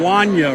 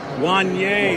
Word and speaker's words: Wanye: And you pronounce your name Wanya, right? Wanye, that's right. It's a long A on the end.